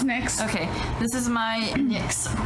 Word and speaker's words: NYX: Oh no, it's NYX.